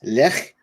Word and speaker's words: Lech: do you pronounce this left or left well you gotta pronounce the H like you're clearing your throat alright so this is